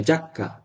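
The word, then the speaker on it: giacca: আপনি উচ্চারণ ভুল আচ্ছা দেখেন জি ই আ যা জি ই আজা যা কমে জাক্কা এখন আপনি যদি বলেন জি ই আ জিয়া জিয়া আক্কা ন জি আক্কা না জাক্কা জি ই অ জি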